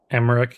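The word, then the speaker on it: Aymeric: Look how this guy's name is Emmerick. Even though it's spelled a Y. It's like Oh yeah, the A. Not it's not A. It's M.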